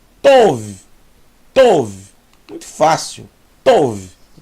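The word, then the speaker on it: טוב: Vet são V então aqui eu tenho T mais o mais V tov tov muito fácil tov que quer dizer bom tov meod muito bom Laila tov Boa noite Boer tov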